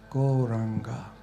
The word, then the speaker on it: Gauranga: We are now going to add the mantra Gauranga to our practice. Gauranga meaning the golden Lord of love. It's got 4 syllables to it. Go, ra, anga.